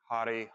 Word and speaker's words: Har: Our mantra we'll be using is Hari, Hari, Hari, Har. So on the Har syllable, kind of flick the tongue on the roof of the mouth, Har.